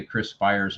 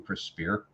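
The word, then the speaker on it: Chris Speier: to be corrected, because I used to always say Chris Spire's name wrong. I called him Chris Spear.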